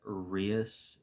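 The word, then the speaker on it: Rias: seen it on Instagram my name is pronounced rius um r i a s um I know there's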